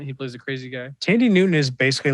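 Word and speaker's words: Thandie Newton: Tandy Newton. That's how you say it. Okay. Yeah, Tandy. Not how it sounds when you. No, it's definitely not phonetic.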